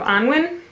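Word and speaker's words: Annwn: one right here it's Prince of Angwin I think is how you pronounce it and this is the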